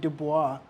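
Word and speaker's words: Du Bois: And the badges or signifiers that he uses is the same things that Web Dubois or Dubo, sorry, proper pronunciation.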